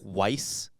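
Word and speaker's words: Weisz: 24th 1874 in Budapest Hungary is it Eric Weiss spell it w i s z s c z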